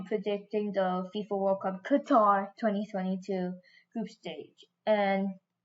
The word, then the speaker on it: Qatar: today I'll be predicting the FIFA World Cup Qatar 2022 group stage that's how you say it right Qatar or Qatar yeah Qatar I'm pretty good at